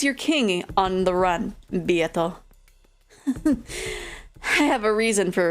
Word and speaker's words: Beato: This is the first time it actually says the pronunciation. Beato will do.